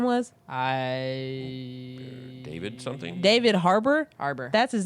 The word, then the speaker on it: Harbour: You said Harper, and that's why I was so confused. Sorry. You're like Said that David wrong. Harper, and I'm like, who is that? I don't Pronounced even it know wrong. who that is. It's David with a B. Harbour.